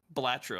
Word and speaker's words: Balatro: this, if I'm not mispronouncing this Balatrio game, it's got a new Blatro. Joker mechanic. Balatro.